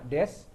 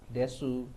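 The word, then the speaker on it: です: Ini juga sama des. U-nya enggak dibaca tuh das doang.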